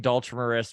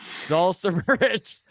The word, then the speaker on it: Dulcimerist: Number one, just so you know, Craig, I'm saying Dulcimerist wrong. There is no H in it. It's a soft C. I'm being told here in the chat. So it's Dulcimerist.